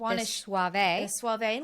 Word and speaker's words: Soave: about that because i when i looked up the pronunciation and i hope we're getting it right but it does have that suave it's s-o-a-v-e and i thought we would think about rico suave and that's how we